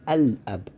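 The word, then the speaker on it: الأب: So for example, ab is the origin of this word, but when we added alif al-lam, it becomes al-ab, so that lam has to be pronounced.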